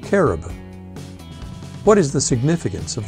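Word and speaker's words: כרוב: what is a cubit in Hebrew cherub is pronounced caribou what is the significance of the colors blue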